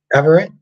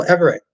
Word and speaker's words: Everett: Johnson says, "Ever it put it together faster, and you get it pronounced Everett." Oh, Everett.